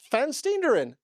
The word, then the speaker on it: Van Steenderen: was exactly on it you you pronounce it ferin f f fan steerin but to be fair